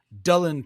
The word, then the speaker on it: Dylan: this particular poem by Dylan Thomas, which is actually the Welsh way of how you pronounce his name.